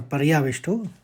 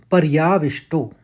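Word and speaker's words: परयाविष्टो: पहला चरण दो शब्द कृप्या और पर्याविष्टो तो व में आघात है तो विष्टो बहुत ही आसान है आपके लिए अब पढ़िए इसको कृपया पर्याविष्टो एक साथ पढ़ने में कृप्या पर्याविष्टो दूसरे चरण को देखिए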